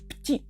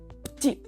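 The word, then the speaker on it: petit: також дуже вживане слово ПТІ ПТІ за правилами взагалі воно має читатися як ПТІ але ось цю Ми також ігноруємо ПТІ маленькі воно і звучить навіть як маленький Ну і звичайно куди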